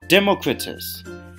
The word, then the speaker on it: Democritus: Democritus.